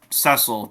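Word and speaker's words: Cecil: costume that wrong my whole life well that's cesil that's his name that's how to pronounce it's cile Harvey um but anyway yeah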